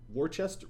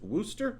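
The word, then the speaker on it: Worcester: in in w w Worchester Wooster I'm sure that's pronounced woster somebody's going to call me out on that we're going to go with woster if you look at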